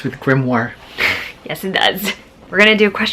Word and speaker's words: grimoire: Great magic and armoire rhymes with grimoire.